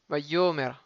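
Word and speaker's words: ויאמר: Alors j'ai oublié de dire que Vayomer, c'est toujours Millael. Vayomer. Vayomar, il est Millera.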